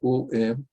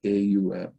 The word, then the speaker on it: Om: this is sanskrit and in sanskrit when ah and ooh they are following each other and you try also to pronounce so it will sound like oh because of the uh rules of grammar a and u becomes whole so you can say om or you can say a um whichever way but now